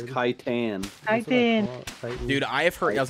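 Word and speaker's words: chitin: ] and armor yep it's exactly how you pronounce it it is not shitten is it it's armor nobody really knows how to pronoun it's kitan dude I heard I was going to say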